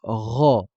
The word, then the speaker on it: ر: ensuite passons au R le r va être tout simplement la pron la prononciation d'un r classique comme dans le mot rateau rateau RA RA sauf que celle-ci sera euh grave donc on va dire RA RA le fa va correspondre